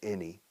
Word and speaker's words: any: Se escribe ani, Y al final. Igual que many se escribe many. Sin embargo, la pronunciación es any, many.